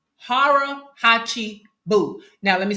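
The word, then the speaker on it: hara hachi bu: I'm going to pronounce this right, but it's harachi boo. Harahachi bu. Now, let me spell that for you.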